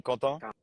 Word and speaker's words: Quentin: In French, you can say Quentin, but in English, it's Quentin. Quentin, like Quentin. Okay. Quentin Tarantino. Yeah, exactly.